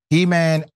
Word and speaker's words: Heman: Heman Bekele. And I love the fact his first name is spelled He-Man.